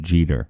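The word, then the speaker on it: Geter: area this was just Jeter what's that it's pronounced Jeter oh thank you just like dere dere Jeter but spelled differently uh so so Jeter this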